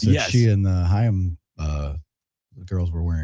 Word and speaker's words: Haim: I definitely should have known the Haim girls. Yeah, I didn't Did I pronounce that correctly? Haim, yeah.